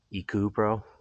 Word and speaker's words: Ecoopro: Found this on Amazon as well, made by a company called Ecoopro, or, well, spelled with 2 O's, so Ecoopro.